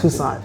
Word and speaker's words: Toussaint: pronounce your last name cuz I can't pronounce. Tucson.